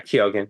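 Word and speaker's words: Keoghan: say his name properly bar kyogen or yeah kogen yeah kogen um he plays this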